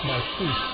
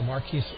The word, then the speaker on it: Marquise: I'm told that Fleming's first name is pronounced Marquise, so thank you very much.